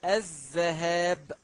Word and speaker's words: الذهاب: كسره وهذا خطا لماذا الصواب ان نقول الذهاب بفتح الباء لان كلمه ازدهار بالكسر بمعنى المطر كذلك الخطا الثاني هو